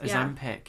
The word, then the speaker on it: Ozempic: Yes, Ozempic.